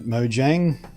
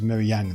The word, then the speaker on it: Mojang: multiple times actually but if you're from the West and you feel like calling at Mojang that's fine the official native pronunciation in the land whence it came is me yang though but they accept either I don't get pissy